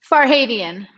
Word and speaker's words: Farhadian: a hottie and wine steamer and am i pronouncing for heidi and wright farhadian for haitian yes tally for haiti and weinstein uh worked